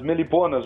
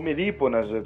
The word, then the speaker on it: meliponas: As meliponas ou melíponas, você vai ouvir as duas pronúncias, são aquelas abelhas pequenininhas,